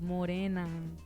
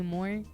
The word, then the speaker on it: More: So when you pronounce it like mora m, right?